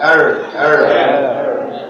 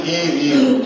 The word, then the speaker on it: err: Can you pronounce this? Verb form of err.